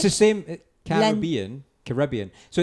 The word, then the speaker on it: Caribbean: It's the same Caribbean. So it's Yeah. the same. It's just a different pronunciation of the exact same Emphasis. word. But the emphasis, right?